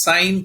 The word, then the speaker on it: sine: pretty much about the important points and next sine cosine and tangent you know when we take the ratio of opposite side to theta to its hypotenuse that is known as sine in fact these are the rules i'll explain